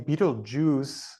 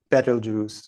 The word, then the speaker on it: Betelgeuse: as a western um there also various pronunciations of the name and and I've what I've read and people who have been around astronomy longer uh that I have that the name Beetle Jews was kind of a a result of the movie 1989 um the standardization on that pronunciation as opposed to betterle Jews or or something different but any that's what I